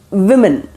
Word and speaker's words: women: That is women. Women. Okay. That is W-O is not pronounced as woo, because when you are